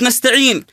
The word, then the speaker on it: نستعين: الرحيم وهذه قراءه خاطئه مثلا كلمه نستعين لا بد نقراها ياء خالصه نخفض فيها الفك السفلي الى ايش الى اسفل طيب طيب من ضمن